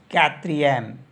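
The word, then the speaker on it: quatrième: हो जागा यह हो जाता है हमारे पास कत्र एम कत्र एम तो कत्र को बोलते हैं फोर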